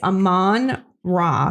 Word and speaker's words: Amon-Ra: It's Amon-Ra St. Brown. Amon-Ra. Yes. I love Amon-Ra. I can't pronounce his name, but I drafted him in every league.